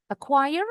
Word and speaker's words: acquire: Acquire artinya memperoleh. Again, the last letter R terakhir huruf R yang terakhir. Kalau Brad English enggak pernah dibunyikan acquire bacanya. Kalau orang Amerika pasti ada bunyi r-nya diwakili dengan lambang yang ini.